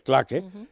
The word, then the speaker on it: claque: La CLA, que es un nombre francés, se escribe claque, y se dice claque, es verdad que funciona